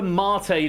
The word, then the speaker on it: mate: So, it's your pronunciation. Look, prom. I know it does, but it's mate.